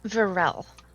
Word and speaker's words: Virelle: Uh, Varel.